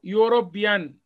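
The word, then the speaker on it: European: ارتكل مفيش اداه خالص حرف اليو هنا نطق او ي يوربيان تبب هنا ايان هي هتاخد او بس هنا طبعا لانه الحرف الاي هنا لا ينطق واللي هيطلع من بقك اللي هو حرف اليو ده وحرف اليو نطق ا مضموم يور زي كلمه يونيفورم يونيفرستي قنا تاخد ا ما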